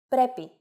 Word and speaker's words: πρέπει: If a two-vowel combination must be pronounced as a set that is not accented, then no mark should be placed on any of the letters. For example, πρέπει, meaning must, as in it must.